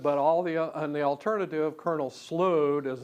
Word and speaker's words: Slough: That doesn't sound good, but and the alternative, Colonel Slough, does not sound good either. And apparently Flint checked with the Ohio legislature pronunciation guide, and they say what, Flint?